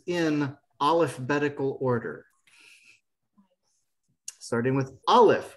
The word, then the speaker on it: aleph: alphabetical order starting with aleph which is silent bet sounds like b